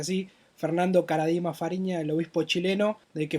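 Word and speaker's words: Karadima Fariña: del estado clerical a Fernando Caradima Fariña, se pronuncia así, Fernando Caradima Fariña, el obispo chileno, de que fue hallado culpable por abuso sexual.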